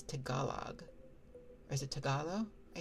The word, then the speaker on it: Tagalog: Tagalo. I think that G might be silent at the end. Yeah, Tagalo. Yes, good. I had it right. Um, so we have a pooa. The final G is silent.